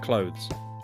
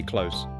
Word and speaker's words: clothes: Number five, clothes, the things you wear like shirts, jeans, jackets. Ah, this one is hard for many people. People say close. But it's not the same.